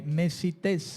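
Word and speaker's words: μεσίτης: mediador dice el comentario la palabra mediador en el griego mesites tiene como una un acento en la e mesites o mesites H mesites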